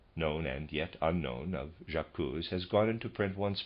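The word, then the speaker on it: J'accuse: u e excuse me I'm going to pronounce that jacuz he says and of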